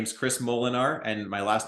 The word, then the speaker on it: Molenaar: estate people so um my name is Chris molinar and my last name is spelled m-o-l-e-n-a-a-r so if you look me up